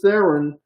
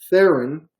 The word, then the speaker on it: Theron: Charlize Theron, she has such a hard name to get right. Theron, Tough name, yeah. Because it rhymes with heron.